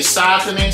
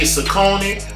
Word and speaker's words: Saucony: you see the shoes the pronunciation of the name is debatable some say softening some say socony but we have two